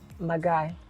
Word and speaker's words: Marhguy: Your surname, how is it pronounced? Okay, Marhguy. Marhguy.